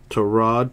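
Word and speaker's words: Tyrod: 2093 got her patch there for the Broncos to Rod Taylor 265 that is the correct pronunciation and how you pronounce this made his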